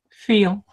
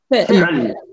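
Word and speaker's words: فعل: Feel. Fi'l. Yes, with the ayn, fi'l.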